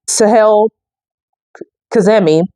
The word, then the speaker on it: Sahel Kazemi: so late 2008 apparently um Steve would meet Sahel kazami that's how you pronounce her name at a DAV Busters and